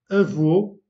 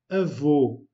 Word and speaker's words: avô: Avô, remarquez que le O est fermé. Avô, avô, avec un accent circonflexe, veut dire grand-père.